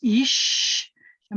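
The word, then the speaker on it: אִשָּׁה: and i have so my first syllable is ish and my second syllable sha so built into this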